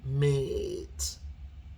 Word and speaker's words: mate: But with the E at the end or the vowel at the end, you're going to get a long A sound, mate, right?